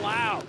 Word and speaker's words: Lowe: Trent Lowe gets by Ben Lau. Spelled the same. You got to say it different.